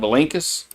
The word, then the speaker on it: Belinkus: One down, Belinkus. I pronounce that Blinkus. All right, Blinkus.